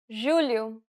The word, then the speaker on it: julho: The letters J and G can sometimes be pronounced like. Je, It sounds like the S in pleasure.